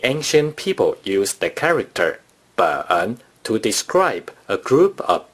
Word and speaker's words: 本: For book, 书, you may use the major word 本. Therefore, six books in Mandarin Chinese is pronounced 六.